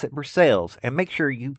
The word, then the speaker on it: Versailles: This was 2 or 3 hours prior to Ron arriving in Burcales. If you're not from Kentucky, I know it's spelled like the French word Versailles, but in Kentucky they pronounce it burces.